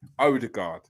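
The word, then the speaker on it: Ødegaard: Yeah, to say it properly, Odegaard.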